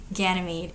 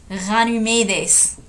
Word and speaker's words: Ganymede: Actually, I have heard that, I have it on good authority, that it's actually not pronounced Ganymede. If you speak Greek, it's pronounced Ganymedes or something.